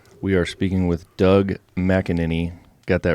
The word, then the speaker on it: McAneny: in the studio we are speaking with Doug mckinin got that right right that's right right perfect it's not an easy one to pronounce no it's not so uh keeping on